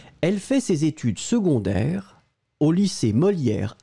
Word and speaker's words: secondaire: S-E. Condairess. Souvenez-vous, phonétiquement, c'est une famille bizarre parce que on prononce second, secondaire, seconde. Le C est prononcé comme un g-g-g-g pour une raison évidente.